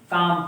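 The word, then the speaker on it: calm: L silent होता है, इसीलिए इसको क्या पढ़ते हैं हम? काम पढ़ते हैं, ठीक है।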